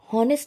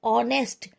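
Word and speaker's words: honest: Because ऑनेस्ट का जो एच है ये यहाँ पे साइलेंट है। वॉवल वाला ऑनेस्ट, ओ वाला, सॉरी, ओ वाला प्रोनाउंसिएशन दे रहा है ऑनेस्ट। तो एन आर्टिकल आएगा जो कि इनडेफिनेट आर्टिकल है। एन लगेगा यहाँ पे, एन, बिकॉज यहाँ पे ऑनेस्ट, हॉनेस्ट नहीं बोला जाए, ऑनेस्ट।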